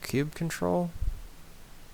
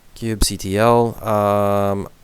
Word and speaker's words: kubectl: I think it's pronounced cube control. Cubicle. It's gonna bother me now. Kubectl.